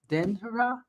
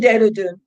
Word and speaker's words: Dehradun: Denhara? How do you I say live it? in Dehradun.